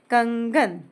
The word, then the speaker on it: कंगन: अब मैंने देखा यह ग नेक्स्ट लेटर लिया। ग कहां आता है? ग आता है क वर्ग के अंतर्गत। देखिए क ख ग इसका फिफ्थ लेटर ढूंढेंगे। इसका फिफ्थ लेटर है अंग। इसलिए प्रोनाउंसिएशन होगा अंग। कंगन अब आया घंटा।